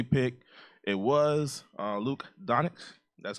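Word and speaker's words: Dončić: The number 3 pick, it was Luke Doncic.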